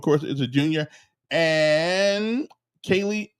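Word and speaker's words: Kayleigh: And Kaylee Long, I think that's how you pronounce her name. K A Y L E I G H. Kaylee.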